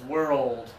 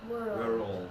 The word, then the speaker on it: world: And then this one, when we're talking about the planet Earth, okay, we're going to do it as 2 syllables. World. World.